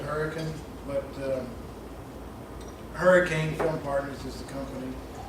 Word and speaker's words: Hurricane: West Virginia pronounce it Hurricane, but Hurricane Film Partners is the company.